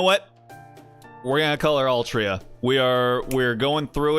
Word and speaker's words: Altria: I mean hey the the Japanese just straight up said it's pronounced Altria and uh essentially all